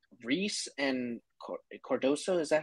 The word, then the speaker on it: Cardoso: All right, it was like Reese and Cardoso. Is that how you say it? Cardoso?